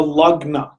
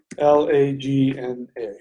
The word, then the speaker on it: lagna: In Vedic astrology, it is called the lagna. It's spelled L-A-G-N-A.